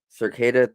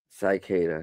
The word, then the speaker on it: Cicada: Cicada, not Cicada. Jeez, not like the bugs.